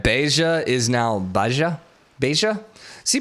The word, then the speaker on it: Beja: So in Spanish it would be Beja, but in Portuguese it's Beja.